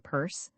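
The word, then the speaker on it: Pierce: She had one president, pronounce him Purse, and make the most of it for better or worse.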